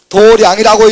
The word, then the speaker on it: 도량: 도량이라고 읽지. 그리고 뭐라고 이야기하지? 사찰이라. 사찰. 저를 도량이라 그러죠. 그럴 걸. 그 원래 마당 장자거든. 근데 우리가 도량 이렇게 읽어.